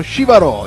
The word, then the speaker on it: Jivaro: Attenzione al nome, perché molti si sbagliano con l'accento. Shivaro, giusto? Ho detto bene? Sì, ciao Simona. Shivaro.